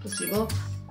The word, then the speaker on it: placebo: Placebo. The stress is on the middle. Syllable? Okay, placebo.